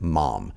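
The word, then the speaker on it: Maugham: written by william somerset mom and yes that is how you pronounce the last name mom but what you may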